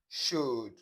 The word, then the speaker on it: should: So let's look at the silent L, that is, you not pronounce the sound in these words. So, palm, bam, sam, walk, talk, stalk, yoke, should, could, would, folk, and so on.